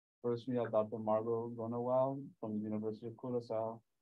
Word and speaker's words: Groenewoud: And yeah, I have a little green, but that's because of my second name, which no one can pronounce. It's Groenewoud, which means greenwood.